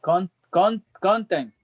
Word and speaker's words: content: It's content. Content. Okay, put the accent on the last syllable.